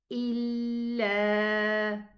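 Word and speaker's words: إلا: And then we have a hamza kasra, e, but we have a lam shadda alif. So it's going to be pronounced illa. Illa. 2 counts for the alif so far. But when I connect with the hamza, it's going to be extended 4 counts.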